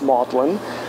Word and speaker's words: Magdalene: member of maudlin college it's spelled magdalene but it's pronounced maudlin so i'm a member of maudlin college but i do